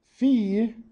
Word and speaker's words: phi: As in, if you want to pass the class, pay the fee.